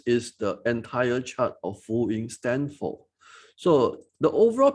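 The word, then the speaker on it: Fu Yin: very interesting chart because this is called a full ink chart so let me type it down what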